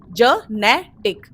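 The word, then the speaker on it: genetic: इस वर्ड का correct pronunciation है ज नेटिक। जेनेटिक जेनेटिक क्योंकि जब भी किसी वर्ड में जी के बाद आई ई वाई आता है तो हम उसे ग नहीं प्रोनाउंस करते हैं। उसे ज प्रोनाउंस करते हैं।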